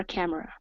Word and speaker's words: camera: Instantly flipped on her camera. There you go, great job. Now, remember, this word here is not pronounced like in Spanish. We do not pronounce the E.